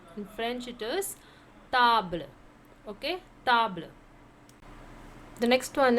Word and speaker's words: table: You have the same spelling like table, but the pronunciation will be different. How to pronounce? In English it's table, in French it is table.